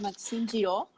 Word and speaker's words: Maxime Girault: I'm here with Maxime Girault, right? Is that the correct pronunciation?